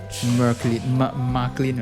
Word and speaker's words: Marklin: Marklin, right? Marklin. It's a R, right? You have to pronounce the R, right? Marklin. Yeah. So technically it's Mark plus Lin. Marklin. Yeah. So it's like Franklin but Marklin.